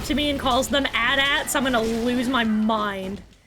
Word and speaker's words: AT-AT: You mean like AT-ATs? Yeah, like the AT-AT, the AT-PT, or the AT-ST. I think that's, Actually, they are pronounced at-ats.